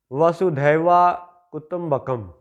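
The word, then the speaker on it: वसुधैव कुटुम्बकम्: سے بڑا کمال ایک جملہ ہے۔ ان کا تلفظ ہے وسودھیوا کٹمبکم۔ اب اس کا مطلب یہ ہے، انگلش میں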